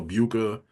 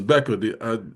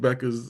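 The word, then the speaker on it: Bueckers: I was calling her Buka, or Bukas, and it was Becker. I just realized the U is silent. It's Becker's. yeah. So salute to Paige Beckers and the UConn Lady Huskies.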